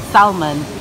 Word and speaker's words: salmon: hearing me at the salmon he pronounced the l i'm trying to tell him the l is silent salmon not salmon but he says salmon